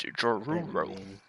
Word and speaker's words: Joruro: It's Joruro. It's like Scooby-Doo talking, kind of.